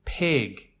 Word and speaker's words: pig: this wrong and it's the Troublesome it sound in the middle it's Pig I have many advanced level students who still say pig pig as though as though it is spelled PE eg but it is P IG a pig pig and we need